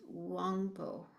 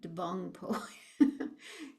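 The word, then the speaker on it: དབང་པོ: Sanskrit indria and Tibetan the way that's pronounced is is wpo not dongpo Tibetan's a funny language they have some um letters that are uh silent or not pronounced so the d there doesn't get pronounced but the D makes the B become W.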